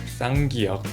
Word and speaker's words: ㄲ: Many people think sanak is simply pronounced more strongly, but that is not really what's happening. It's not the louder sound. It's a sound that start with the firmer tighter preparation.